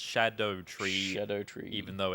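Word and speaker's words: Scadutree: There's a different kind of like scaling system based on branches of Skadu tree fragments, but I'm told it's pronounced Shadow Tree.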